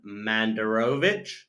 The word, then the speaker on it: Mandurovic: And today I'm privileged to have Mandurovic. Have I said it right? Yeah, that's probably the Western world pronunciation. Well, Yes, would I say Mandurovic?